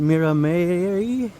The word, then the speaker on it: Miramare: You can pronounce it Miramare or Miramare.